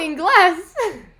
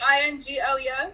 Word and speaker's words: Ingles: supermarket was called ingles and i'm like oh in glass oh it was like i-n-g-l-e-s yes and it's pronounced ingles and then even chris saw it